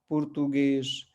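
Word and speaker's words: português: पुर्तुगेश, Francis, English, ठीक है, false. तो ये सब जो है एस पे खत्म हो रहे हैं, लेकिन हम इसका उच्चारण कैसे कर रहे हैं, एस एच पे, ठीक है।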